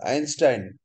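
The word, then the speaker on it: Einstein: আইনস্টাইন, বানানটা এইনস্টাইন কিন্তু উচ্চারণটা আইনস্টাইন।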